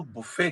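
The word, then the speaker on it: buffet: जो सर्विस होती है उसको बुफे कहते हैं हा इसकी प्रोनंसिएशन बफेट भी है लेकिन न इट वर्ब इट बफेट न ट noun it बफेट T silent Russian this इ रशन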